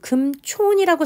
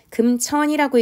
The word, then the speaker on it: 금촌: 엄마가 만약에 잘못을 했다면 엄마는 지금 금촌이라고 생각하면서 뭐라고 발음한 거예요 금천이라고 했기 때문에 딸이 오해한 거죠 그러니까이 부분에서는 5를 어로